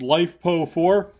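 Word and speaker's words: LiFePO4: I'm gonna say that's probably pronounced life po4 that's how I pronounce it that's that's literally the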